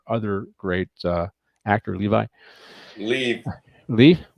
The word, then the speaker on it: Liev: and there's our other great uh actor Levi leave leave say it again leave leave leave how